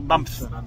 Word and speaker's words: Banff: Yeah, tama yung pronounce mo? Banff.